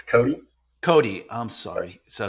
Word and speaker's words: Kothe: did I pronounce the last name correct? It's Cody. Cody, I'm sorry. So it's Cody.